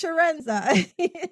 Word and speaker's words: Chiarenza: I cannot roll an R. There'll be no way I'll ever be able to roll a C. So it's Chiarenza.